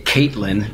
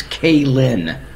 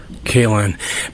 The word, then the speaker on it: Kaelin: A lot of people get that last name wrong. They say Caitlin, and it just makes me mad. It's Kaelin. Kaelin, but your real name is Brian.